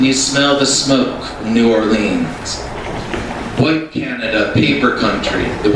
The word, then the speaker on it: New Orleans: I want to say something about this poem is that when you live in New Orleans, you pronounce it New Orleans and not New Orleans or Nolans, or as the kids call it, NOLA.